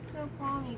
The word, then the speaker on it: Snoqualmie: Snoqualmie? Huh? You're at Summit Snoqualmie Central.